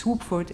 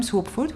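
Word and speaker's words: Słubfurt: from the first congress swoopford is the capital city of this land it's quite clear swap for it written like this the second letter is actually pronounced just like the english w in 1998 wubitz and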